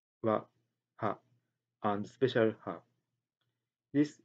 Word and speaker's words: は: These special ha are attached to last phrases and pronounced wa.